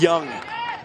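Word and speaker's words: Jung: the last time but his last name Ju ng pronounced young keeps this up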